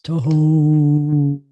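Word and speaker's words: תהום: It sounds really deep. It doesn't sound deep in Hebrew. In English, it sounds like beep. It doesn't sound deep at all. But in Hebrew, it's tahom.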